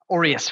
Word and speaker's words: Aureus: with your partner uh is it pronounced uh heiress aureus financially so um aureus is the the gold coin at the peak of the roman empire we come from an